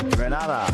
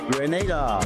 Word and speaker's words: Grenada: So today, like we Germans say, we are in Grenada. But I heard in English it's called Grenada.